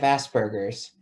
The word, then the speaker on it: Asperger's: not really a superhero i have asperger's it rhymes with hamburgers which is a kind